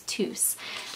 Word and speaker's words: Tous: I knew Spanish but you all did say that you do pronounce the S at the end so it is tus so again thank you